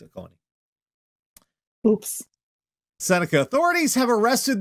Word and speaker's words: Oconee: Oconee. Because there's a diner by that name on Long Island, and we pronounce it Oconee. It's Oconee.